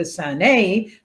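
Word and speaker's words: Sanneh: I'm pronouncing it wrong it's actually Dr Khalifa sanay because it's gambian and if you want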